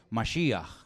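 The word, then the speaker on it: משיח: significa la palabra Cristo Cómo se dice Cristo en hebreo Ya lo hemos enseñado un millón de veces masia que significa ungido yo soy el ungido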